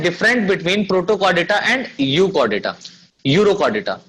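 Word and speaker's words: Urochordata: यूकॉर्डेटा नहीं बल्कि students क्या कर लीजिएगा, यूरोकॉर्डेटा, यूरोकॉर्डेटा, ये थोड़ा सा ध्यान रखिएगा, थोड़ा मिस्टेक हो गया है स्पेलिंग्स में। यूरोकॉर्डेटा है, इसको यूकॉर्डेटा बोल सकते हैं हम लोग, ठीक है, लेकिन एक्चुअल में ये यूरोकॉर्डेटा है।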